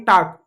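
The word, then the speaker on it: talk: तो आई टाक, टाक नहीं पढ़ेंगे, टैक पढ़ेंगे, एल साइलेंट होगा, ठीक है। जब कभी भी एल के बाद के आए तो हमेशा एल साइलेंट होगा।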